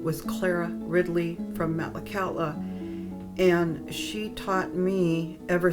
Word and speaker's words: Metlakatla: The name Metlakatla is just, well, it came from old Metlakatla, BC, and Metlakatla is pronounced Metlakatla.